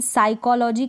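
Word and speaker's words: psychology: नहीं सुना कोई बात नहीं कभी आपने यह साइकोलॉजी का नाम सुमन साइकोलोजी तो साइकोलोजी मैं आपको ध्यान रखना है पीठ को तो साइलेंट रखना है बोलते वक्त लिखते वक्त स्पेलिंग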